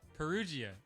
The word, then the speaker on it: Perugia: I tell people phonetically, it's Peru like the country, G like the letter, like the sound.